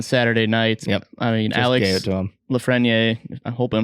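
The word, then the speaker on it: Alex Lafrenière: gate raiders on saturday nights yep i mean alex lafreniere i'm hoping i'm not butchered that's right that's correct i think so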